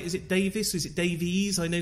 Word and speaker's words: Davies: welcome is it is that right is it Davis is it Davies I know sometimes with the EU don't pronounce it uh it's Davies so it's IES okay welcome to humans versus